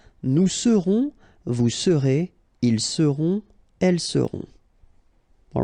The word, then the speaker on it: seront: pronounced, then on, on, seront. Vous serez, a Z together at the end, et serez, all right? Ils seront, final T not pronounced, and then you've got this nasal, on, seront, elles seront.